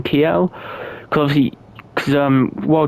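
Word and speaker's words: Kiel: very north of Germany in K I think is how you pronounce it in Kel cuz obviously cuz um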